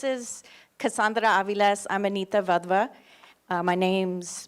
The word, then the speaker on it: Wadhwa: here um this is Cassandra AES I'm Anita vva uh my name's pronounced kind of like their v's and we